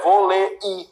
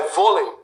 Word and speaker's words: vôlei: Porque a palavra não é volei. A palavra não é volei, é vôlei.